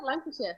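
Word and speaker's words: Lancashire: Yeah, Lancasher. Yeah, Lancasher. Northern Lancasher. You said Lancasher. Lancasher. Lancasher. Lancasher. So, yeah. So, you shared with us that your first job was in Lancasher.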